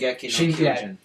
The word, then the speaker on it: Shingeki no Kyojin: Shingeki no Kyojin.